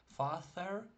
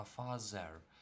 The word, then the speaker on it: father: От, наприклад, в слові тато не father читаємо, а father.